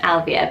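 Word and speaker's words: Ailbhe: from an Irish name Alvia so put the name on screens it doesn't look like it's gonna be pronounced Alvia but that is the pronunciation of it and it's synced by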